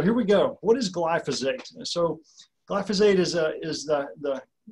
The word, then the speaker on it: glyphosate: It's pronounced glyphosate, and it is the world's most commonly used herbicide.